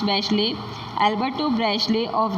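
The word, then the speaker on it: Bachelet: यहाँ पे एयरफोर्स जो होते हैं उसके ऑफिसर होते हैं एल्बर्टो, जनरल होते हैं Alberto बैशले, it's pronounce बैशले, Alberto बैशले ऑफ the Chilean air force and many other officers who refuse to join the corp.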